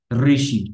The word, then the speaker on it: ঋষি: এটাকে আমরা অনেকটা রি, রির মতো উচ্চারণ করবো আমরা, রি, র সাউন্ড, অর্থাৎ আপনার জি আর র মানে জিহ্বার ডগাটা ভাইব্রেশন হবে, র সাউন্ড হবে, ঋষি, ঠিক আছে।